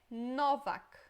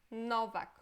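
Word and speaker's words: Nowak: O primeiro é Novak. Novak, ok? Este é fácil de pronunciar. Só em português a gente escreveria com V e com C, né? Mas no geral, Novak não tem nenhuma novidade, nenhuma dificuldade, né?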